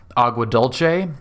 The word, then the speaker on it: Agua Dulce: be going up to Agua Dulce, which I will be pronouncing in the Italian manner, just because dulce or whatever Spanish pronunciation sounds kind of weird to me. Dulce sounds a little bit better.